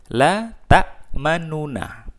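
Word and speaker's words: لَا تَأْمَنَّا: Islam yang artinya eh bibir sedikit mencucu atau sedikit moncong di tengah-tengah bingung sebagai syarat bunyi dhommah jadi eh dikata letak mana aslinya adalah latak manuna la ta'manna ya seperti ada di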